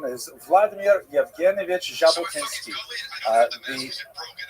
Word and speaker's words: Jabotinsky: And it's kind of like the J as in the French name Zach, not like the J in the English name Jack. In order to make the Jack sound, you actually have to add a D to the Russian alphabet. So his name is actually Jabotinski.